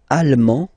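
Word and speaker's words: allemand: masculine or feminine britanic lalman almo alm okay same thing here okay you don't pronounce the final D but then you pronounce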